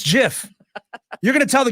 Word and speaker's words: GIF: creator of the format says GIF it is GIF I don't care what delusion everybody else in this world who says GIF I don't care what you all say I